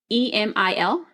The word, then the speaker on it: Emil: of that year because see email I think that's how you say his name e m i l Emil email uhhuh email email